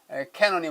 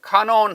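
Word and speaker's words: Canon: 그 중에 가장 대표적인 캐논이 뭐냐면 요한 파헬벨의 카논이 있습니다. 캐논은 이제 영어로 발음한 것이요. 카논 하면 뭐 독일어나 이제 다른 식으로 발음하는 것이죠.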